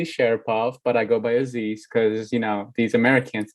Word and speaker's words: Aziz: but i go by aziz because you know these americans can't pronounce anything for their life so it's fuzzy's like dizzy's but with an a or like you know aziz i'm sorry i don't